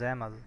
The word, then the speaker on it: XAML: The usage of XAML, Extensible Application Markup Language, pronounced as XAML, is a declarative XML-based language created by Microsoft,